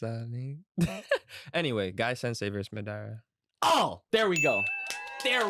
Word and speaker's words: Madara: since we're talking about Madura can you pronounce his name properly please no it's Madara Madara that's better I can't believe you're